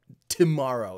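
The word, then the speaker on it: TMRO: a fantastic production but it's spelled T mr0 to tomorrow like tomorrow TM ro find them on YouTube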